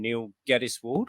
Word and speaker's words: Neil Geddes-Ward: Well, I'm Neil Geddes-Ward, as you wondered about the pronunciation earlier.